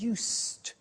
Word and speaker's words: used: it's written u s II D but the pronunciation is used and we'll see that on the screen later